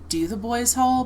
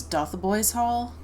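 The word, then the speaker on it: Dotheboys Hall: It's spelled like Do the Boys Hall, but I think it's Doth the Boys Hall. I could be totally wrong, please correct me.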